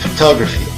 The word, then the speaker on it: photography: Por exemplo, na palavra photography, não devemos entonar cada sílaba, photography. A entonação ocorre somente na segunda sílaba, enquanto na primeira e na terceira utilizamos o som átono, A, photography.